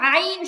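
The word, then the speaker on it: عين: আইন আপনি যদি বানান করে লিখতে যান, সহজ কথা, এই যে আইনের যে উচ্চারণটা, এটা যদি আপনি বানান করে লিখতে যান, আপনাকে লিখতে হবে আইন ইয়া নুন, আইন ইয়া নুন। এই আইন শব্দটা, আইন হরফটা বানান করে লিখতে গেলে আইন ইয়া নুন নুন ব্যবহার আছে। করতে, তাহলে সহজ কথা হচ্ছে আইন বললে একটা নুনের উচ্চারণ আছে, আর যেহেতু যেহেতু নুনের উচ্চারণ মাঝখানে আসতেছে, এই জন্য এখানে মতো গুণাটা হবে, এছাড়া আর কিছুই না।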